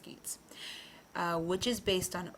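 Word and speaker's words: Geats: century geets and Danes I promise you it's pronounced geets uh which is based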